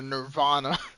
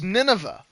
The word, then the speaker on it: Nineveh: My friend calls her Nirvana because he cannot be bothered to figure out that. Oh, it's Nineveh.